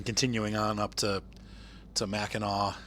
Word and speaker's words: Mackinac: Pleasant and then continuing on up to to Mackinac Mac a knack my father-in-law oh my gosh still cracks me up he was i we he was going to sue st.